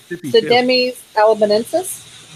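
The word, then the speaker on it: Pseudemys alabamensis: Sidemes alabamensis.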